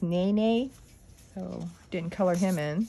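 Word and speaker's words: Nēnē: I think it's pronounced Nene.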